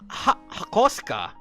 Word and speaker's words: Hakosuka: The hak I would not call it a hakoska.